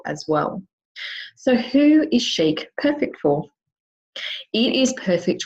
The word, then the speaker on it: Sheike: I guess resolution to make sure that I pronounce them correctly so I called and she answered chic and I went thank you so much you've just answered my question so chic is an awesome brand and I was introduced